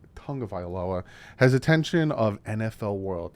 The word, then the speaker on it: Tagovailoa: Dolphins two tongue of iloa and again it's pronounced Tonga violoa has attention of NFL world yeah he after